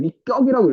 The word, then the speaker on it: 위격: 아 그리고 내가 발음을 잘못했네. 위격이라고 읽어야 됐네.